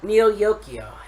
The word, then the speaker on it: Neo Yokio: surprised me, is called Neo Yokio. Can you repeat that one more time? Neo Yokio. It's as it's spelled, Neo space Yokio, or how as YOKIO.